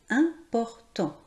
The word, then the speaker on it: important: Important. On ne prononce pas le T final, c'est au masculin.